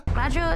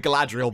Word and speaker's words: Galadriel: Galadriel. Adril? Galadriel. Galadriel. We're not just not bothering to roll the R's anymore. We've somehow squashed a name into one syllable.